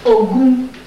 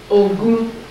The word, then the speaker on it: Ogun: For social, third social principle for a life of victory is Ogun. Ogun. O, G, G is that like in George, is G or J? That's G. O, G, O, U, N.